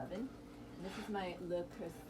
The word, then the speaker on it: Le Creuset: And this is my le creuset. I gotta say it properly. I studied French. Le creuset. Le creuset.